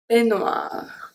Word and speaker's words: peignoir: EI make the sound E, exactly the same as AI.